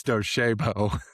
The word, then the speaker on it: Docebo: We Chris and I talked about the name before we got on, and it's Docibo. Docibo.